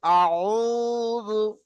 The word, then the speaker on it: أعوذ: আইনের উচ্চারণ গলা থেকে করেন। কুল আউযু أعوذ বিরাব্বিল ফালাক।